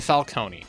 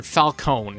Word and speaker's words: Falcone: Heading back to Arkham Shadow, we can give our next spot to Falcone or Falcone if you pronounce it that way.